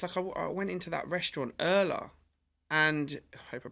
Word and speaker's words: Urla: I'll say the name of the restaurant wrong, but it's URLA, so Erla, and that was one